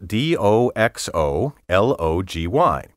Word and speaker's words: doxology: but you may be familiar with doxology spelled do XO l OG y doxology combines the greek doxa up with the